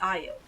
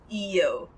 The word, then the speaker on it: Io: And also grab Io. Or Io. How you pronounce her name actually depends if you're playing with the Japanese voice acting, or if you're playing on the English voice acting.